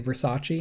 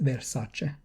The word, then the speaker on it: Versace: that all the time because people always say versace and she's like honey it's versace woody harrelson strangely enough